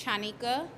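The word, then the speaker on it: Chanika: a t h a m and can you pronounce your first name for us channika last name is great thank you guys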